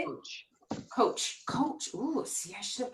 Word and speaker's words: Koch: Koch.